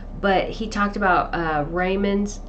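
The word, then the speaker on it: Riemann: he talked about uh rayman's I think it's pronounced ryman's U metric tensor Einstein's theory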